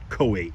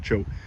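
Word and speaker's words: Choate: It's spelled C-H-O-A-T-E, so I would say Coate, but they call it chote.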